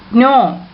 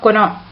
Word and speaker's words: know: Know. It is not kono. Okay. K is silent here.